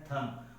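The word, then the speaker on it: thumb: बी is silent after M.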